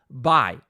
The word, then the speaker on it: buy: bullying em inglês porque porque você está pronunciando essa palavra da maneira errada a pronúncia correta seria by se você falar I